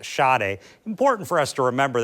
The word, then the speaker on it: Sadè: My apologies to Mara calling her Marisade a few times. It's me Shade. It's spelled S A D but pronounced Shade.